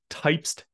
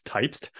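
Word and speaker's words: Typst: another feature coming to quto is something called types integration and that is actually how you pronounce it I learned that at our conference this year it's types types is a it's a very new open-source markup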